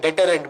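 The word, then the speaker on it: deterrent: डिटरेंट, मैं इसकी pronunciation भी गलत कर रहा हूं।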